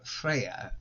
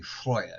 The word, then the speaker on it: Freyja: Freyja is usually pronounced Freyja, though that is a modern pronunciation. Her name in Old Norse will be Freyja, so you can say that is the correct pronunciation of her name, whichever language you actually speak yourself.